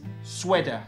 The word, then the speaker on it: sweat: Et pour des raisons historiques, la graphie EA se prononce E dans un assez grand nombre de mots, comme sweat, sweater. I'd like to call this little number striped sweater. Et donc là, normalement, vous l'avez. Sweat va se prononcer sweat pour des raisons historiques.